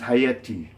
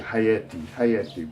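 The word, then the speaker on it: حياتي: So haya is vida, so we attach a subject pronoun at the end of it, and it becomes hayati. And pronounced in dialect, it's pronounced more hayati, in vez de hayati.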